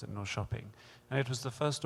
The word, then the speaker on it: Norrköping: It's spelt Norrköping, but they pronounce it Norrköping.